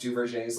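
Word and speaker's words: Duverger: to anybody who's looking it up but it's pronounced du's law and you can predict just based on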